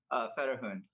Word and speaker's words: Fetterhund: Fetterhund Racing, is that how you pronounce it? Fetterhund.